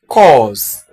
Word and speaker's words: coarse: C-O-A-R-S-E is pronounced as cause.